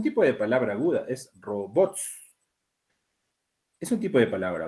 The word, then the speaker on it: robots: seguimos seguimos por acá dice la palabra robots no lleva tilde está ya precisando el Por qué Y ya pasó eso eso yo también lo hemos visto por qué no lleva tilde robots si está terminando dice es aguda que termina en consonante s no es aguda que termina en doble consonante ts es grave terminada no es robots que